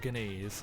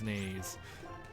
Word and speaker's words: Naze: It's not Ganaze, it's Naze.